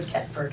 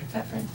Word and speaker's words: Thetford: it pronounced Thetford or Tetford? Thetford.